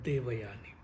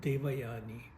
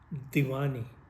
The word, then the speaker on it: Devayani: You make it sound like Divani.